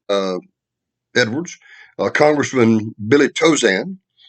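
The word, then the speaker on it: Tauzin: edwards uh congressman billy tozan for those of you who uh speak uh fluent cajun you know that spell t-a-u-z-i-n and pronounced dozen lieutenant secretary of state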